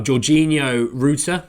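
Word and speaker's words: Georginio Rutter: make sure I get it right uh oh georgino routa that's it I thought it uh ruia roer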